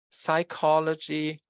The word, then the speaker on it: psychology: So these words are pronounced in English as psychology, Gnostic, and mnemonic, whereas in German, we pronounce them as Psychologie, Gnostisch, and mnemonisch, right?